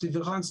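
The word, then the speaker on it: différance: concept of differance differance it's pronounced differance but it can be written spelled differently but it's the same pronunciation so D also said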